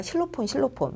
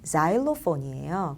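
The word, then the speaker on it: xylophone: 자일로폰은 우리가 실로폰 많이 얘기했었죠. 그 실로폰이 원래 XY 땡땡땡땡 이렇게 스펠링이 되는데 원래 발음은 자일로폰이에요.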